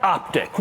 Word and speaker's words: Optiq: First off, it's not pronounced Optique, even though I've wanted to do that the whole time I've been around this car.